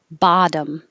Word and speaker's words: bottom: have the air flow bottom the vowel the stressed vowel is ba so you have to open a lot bottom bottle same ba